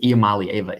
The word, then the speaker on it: Iamaleava: I think Iamaleava is the correct pronunciation though.